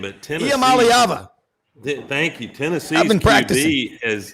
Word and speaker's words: Iamaleava: but Rob, one of y'all is going to have to pronounce Nico's last name, but Tennessee. Iamaleava.